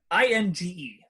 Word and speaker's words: Inge: says here in Ginsburg I sincerely hope I'm pronouncing her name right ing e I believe his Inge right yes well no with that